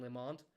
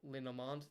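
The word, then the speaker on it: Le Normand: Went right through to the Spanish goalkeeper, Unai Simon, who now rolls out to the edge of the 18-yard box to Robin Limand. Not Linomand.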